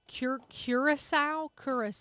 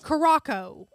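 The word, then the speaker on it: Curaçao: M we're going to I'm gonna say it wrong cure curile cus house say it how Jason says it Caraco Jason says it Caraco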